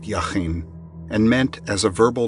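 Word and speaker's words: Jachin: The word jacen in Hebrew probably pronounced yahin and meant as a verbal noun he that strengthens and then firm stable upright.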